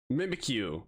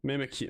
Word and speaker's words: Mimikyu: Mimikyu. Mimikyu. Mimi. Yeah, Mimi Q. But it's spelled a different way than I was spelled it.